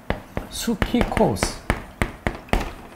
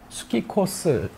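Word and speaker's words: ψυχικός: 헬라어로 이거는 수키코스. 여기 지금 맨 앞에 이게 P로 되어 있는 이 자음 앞에 P는 묵음되는 경향이 있어요. 그래서 수키코스 이게 바로 이 정욕의 것이오에 해당되는 헬라어의 의미입니다.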